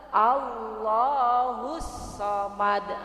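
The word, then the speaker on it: اللَّهُ الصَّمَدُ: Allahus samad, nah itu sebenarnya kalau Ibu Allahus samad, nah yang benar Allahus samad, satu alif atau dua harokat.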